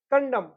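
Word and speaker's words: condemn: ठीक है, तो N will be silent after M, एम के बाद एन साइलेंट रहता है।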